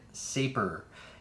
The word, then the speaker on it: Sapor: dads that show you how to say it saper and it means which which you know this